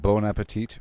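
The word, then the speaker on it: bon appétit: Uh, I read that it's phonetically an O sound produced with your throat and it's a French word. So, there it is. K bon like bone appetite for example it's not bon appetite bon appetite Chocolate bum bums.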